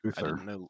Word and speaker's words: Luthor: I say Lex Luthor. Sounds like a Wrong. It's how it's pronounced. How's Oh, that no. Oh, not though. That is It's correct. my show and I can edit you out. What is he saying? It's pronounced as. Luthor. Yeah, that's correct.